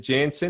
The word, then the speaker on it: Janson: Yeah, it's just like young with an N in front, and you've actually said it very, very well.